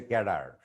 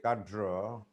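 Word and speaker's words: cadre: attitude magnitude car yeah we say c a d r e Bangladeshi people say card BCS scar it's British people say American people say kadra and Center American people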